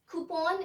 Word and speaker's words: coupon: So here comes our last word, coupon or coupon. Yes, coupon is the correct pronunciation to this word.